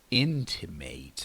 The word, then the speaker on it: intimate: means close usually emotionally but this one is intimate the pronunciation is different intimate that and this is